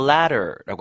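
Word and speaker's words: latter: 그럴 때 I would up for the ladder. 자, 영어에서는 전자를 the former라고 하고 후자를 the ladder라고 합니다. tt가 들어가 있지만 차다리랑 발음이 똑같아요. the ladder 이렇게.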